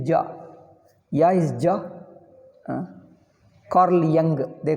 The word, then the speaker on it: Jung: Carl Jung, they call him. They write J and pronounce it as Young.